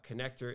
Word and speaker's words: Conneqtor: And so we've invited Derek Notman on, the founder of Connector, and Connector is spelled CONNEQTOR.